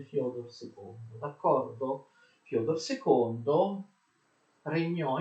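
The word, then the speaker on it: Фёдор: Lo zar Alessio aveva un primo figlio che si chiamava Fyodor II, che si scrive Fed con due puntini, ma si legge Fyodor II, d'accordo?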